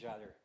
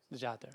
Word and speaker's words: Jader: It's Jader. Jader, okay, Yeah.